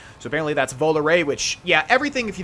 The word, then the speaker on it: Volare: I am always a stickler for pronunciation, and I want to be correct. So apparently that's Volare, which, yeah, everything, if you didn't realize, is